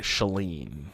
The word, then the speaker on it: Shailene: her name shut it i always say shailene because I'm from the Midwest yeah but I believe that people out west would say saline yeah shaleen is still